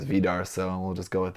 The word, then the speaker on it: Vidar: Vidar, I think is the Japanese pronunciation is Vidar, so we'll just go with that.